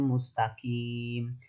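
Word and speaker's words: مستقيم: Ihdinas siratal mustaqim. Mustaqim, mustaqim. Nah, mustaqim kim itu kaf. Nah, itu seperti kaf bacanya, enggak boleh. Harusnya qaf. Ihdinas siratal mustaqim. Lebih tebal ya qaf itu.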